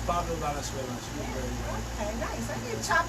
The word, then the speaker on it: Pablo Valenzuela: Why don't you pronounce it for us? No, it's Pablo Valenzuela.